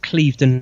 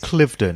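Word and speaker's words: Cliveden: within the grounds of Clevedon house I think I pronounced that right I think is it Clifton it's their maiden heard isn't it Clifton okay so it's Clifton how C L IV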